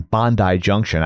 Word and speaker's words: Bondi Junction: So that was in Bondi Junction.